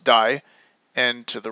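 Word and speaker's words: 大: be familiar to you it's the big character pronounced die and to the right you have Jin which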